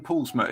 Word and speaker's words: Paulusma: joined by Polly now I've always pronounced your name paulsma is that right yeah well done spot on good where's it from